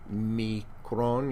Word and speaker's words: omicron: The omicron, the short O, omicron, you hear it, micron, omicron, little o, is pronounced O.